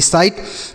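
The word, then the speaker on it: sight: जैसे हमने आपको बताया कि जी एच टी को केवल और केवल आपको ट पढ़ना है।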